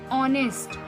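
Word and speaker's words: honest: क्या है, कॉन्सोनेंट है, बट अगर हम प्रोनाउंस करें तो हम क्या प्रोनाउंस करते हैं इसको, ऑनेस्ट।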